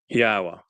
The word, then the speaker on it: Yahowah: So as this continues, Yahowah, this is the proper pronunciation again of the name of our Elohah